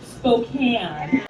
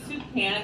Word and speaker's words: Spokane: It's pronounced Spokane, which is why I was sitting there thinking, darn, someone named Julie Soup-Can got my...